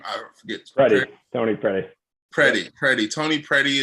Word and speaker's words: Predey: Predey.